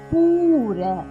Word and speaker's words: பூர: பூர பூர பூக்களுக்கு வர பூ. பூர.